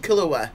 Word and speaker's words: Killua: Like, Piccolo and Killua, love it. I take pride in the fact that I say his name right. Some people are like, Kalula hula hula.